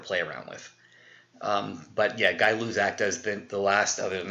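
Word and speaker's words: Gay-Lussac: I know it's spelled G-A-Y, but it's pronounced Guy-Luzak.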